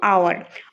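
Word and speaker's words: hour: এইচটা কিছু ওয়ার্ডের মধ্যে এইচটা সাইলেন্ট থাকবে, আর ওই পার্টিকুলার ওয়ার্ডটা যখন আমরা প্রনাউন্স করব, উচ্চারণ করব, তখন সেটা ভাওয়াল সাউন্ড হবে। যেরকম আওয়ার, অনেস্ট, এয়ার, তারপর রয়েছে যেরকম অনার্স।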